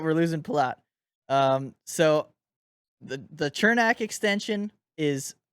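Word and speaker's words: Černák: and last year on Chernak's deal, or Cernak. I don't know how to say it. I say Chernak. That's how I'm gonna say I it. say Chernak too. I've heard both. I've heard a lot of Cernak, and I don't like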